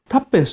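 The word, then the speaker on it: twopence: でいいんです 2 ペンスていますタッペンスとかトゥルペンスとかですイギリスではちょっと変わった発音するんですけどタッペンスでいいですから鳩の餌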